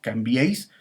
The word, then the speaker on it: cambiéis: abierta aquí por ejemplo cambiéis son dos sílabas camps veis y lo mismo seré